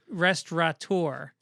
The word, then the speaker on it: restaurateur: matthew truncholetti said gibbons adds the letter n to the word restaurateur he did it twice there is no n in restaurant restaurateur listen listen tronitali i'm